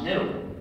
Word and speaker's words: GNU: the english language because according to the dictionary the g is silent and the word is pronounced new so every time you